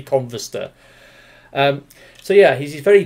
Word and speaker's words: Converster: the show chat and when he calls his name he actually says combustor it sounds like he says combustor because of the way no Koreans pronounce certain words and phrases it sounds like he says combustible it's actually converse sir so yeah he's he's